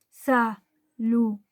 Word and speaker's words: saludaron: Esta palabra no es aguda, porque su sílaba tónica no es la última, es la penúltima.